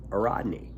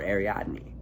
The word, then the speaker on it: Ariadne: And it asked about the importance of Ariadne, or Ariadne, depending on how you say it.